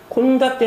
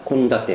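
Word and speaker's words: 献立: 코라고 읽는데, 헌자는 캥이라고 읽는데, 콘다떼 할 때만 캥이 또 콘으로 바뀌는 음독의 예외입니다. 그래서 항상 시험에 예상단으로 들 수 있겠습니다. 콘다테 메뉴 식단.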